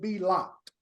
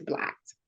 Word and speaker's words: B+LOCKED: blocked a little bit am I saying it right or is it be locked no it's blocked okay let's get in